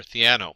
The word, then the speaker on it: Theano: And the first thing you'll notice is that Keras runs on top of either TensorFlow, CNTK, and I think it's pronounced Thano or Theano.